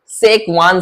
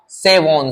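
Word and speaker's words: Schwann: में सेल पाई जाती है, उसको बोलते हैं सेकवान सेल, या कौन सी प्रोनाउंसिएशन आप कुछ भी निकाल सकते हो। उस सेल को बोला जाता है सेकवॉन सेल या सेवॉन सेल या स्वान सेल।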